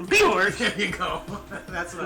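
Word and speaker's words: Björk: Bjork. You didn't say it right. Bjork!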